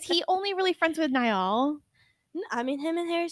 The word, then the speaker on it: Niall: Niall, like the river.